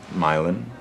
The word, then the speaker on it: Milan: a while milan it's spelled like um milan okay italy but pronounced milan like milan ohio they fell in love